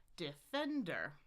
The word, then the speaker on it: defender: Three syllables. Look only regular primary stress. This is pretty normal on the second syllable. Da da da. Defender. Then we've got three vowels.